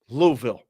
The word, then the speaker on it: Louisville: you got Mumble it Louisville two syllables Louisville there you go that's how you say it he said take him